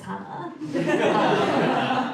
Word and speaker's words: Hannah: Her name starts with an H, it rhymes with banana, it's Hannah.